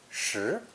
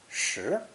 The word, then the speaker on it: 食: And is pronounced 2nd tone, 食, 食.